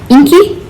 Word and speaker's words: Enki: The next one I have is Enki, E-N-K-I, that's how I'm pronouncing it.